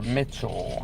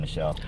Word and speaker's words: Michelle: Von Michelle, or Mitchell, however you Michelle. pronounce It's Von that. Michelle. It's Michelle.